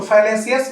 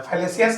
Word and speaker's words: fallacy: ऐसे करके आप अलग अलग करके भी स्पेलिंग को लर्न कर सकते हो। तो फैलेसियस में डबल L है, आपको ध्यान रखना है। फैलेसियस मीन्स गलत।